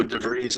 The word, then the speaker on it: De Vries: Um, well, it's Dutch, so De Vries is right.